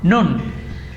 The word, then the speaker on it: Khnum: Se escribe Khnum. Nun. Ese es un dios carnero, se dice, y es el protector de la fuente del Nilo.